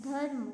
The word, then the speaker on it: धर्म: फिर है, अब इससे बने हुए शब्दों का हम उच्चारण करते हैं। जैसे हमने लिखा धो जो मो, धर्म, क्या पढ़ेंगे हम इसे, धर्म, है ना।